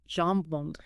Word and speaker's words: jambon: Jambon. It's pronounced roughly jambon.